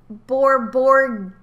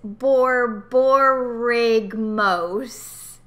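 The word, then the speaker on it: Borborygmos: No, it's not Borborgimos because the Y is before the G. I'm pronouncing the G, the G. Right, but you're saying Borborgimos. Gimos, but it's Borborigmos.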